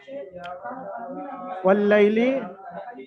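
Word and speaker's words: وَاللَّيْلِ: তারপরে দেখেন তাসদিদ এসছে না, মানে খালি খালি আলিফটা বাদ যাবে, লেখায় আসলেও কিন্তু পড়ায় আসবে না। ওয়াল্লাইলি, এখান থেকে এই পর্যন্ত হারাকাত এবং ইয়া সাকিন ডান দিকে লামের উপর জাবার আছে। ইয়ালিন, ইয়ালিনকে সর্বদা নরম আওয়াজে তাড়াতাড়ি পড়তে হবে, টান দেওয়া নিষেধ।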